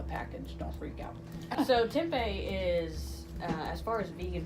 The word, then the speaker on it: tempeh: today we're gonna learn how to cook tempeh tempeh that's how you pronounce it so um so when you're looking